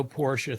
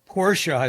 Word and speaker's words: Porsche: Porsche is a 2-syllable word, and you always keep your revs up."